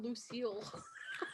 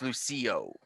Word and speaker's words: Lucio: lucio and uh vulture why did i write down lucille i might have mispronounced it okay yeah it's lucio that lucy yeah i'm gonna